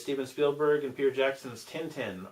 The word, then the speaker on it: Tintin: It's Steven Spielberg and Peter Jackson's Tintin, or Tintin, if you pronounce it correctly.